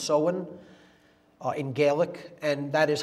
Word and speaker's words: Samhain: Pronounced Samhain, it looks like Samhain in English, but it's pronounced Samhain in Gaelic, and that is Halloween, or Hallowmas, October 31st.